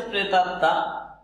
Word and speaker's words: প্রেতাত্মা: ত, এই ত, আর এখানে তয়ে যে ম আছে এটা একটি ফলা, যেহেতু এর উচ্চারণ নেই, প্রেতাত্মা এই ময়ের উচ্চারণ নাই, তাই হচ্ছে দুইটি ত হবে, কারণ ফলা একটি বর্ণকে দ্বিত্ব করে।